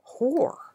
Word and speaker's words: Hor: Whore, and it's spelled H-O-R, mountain.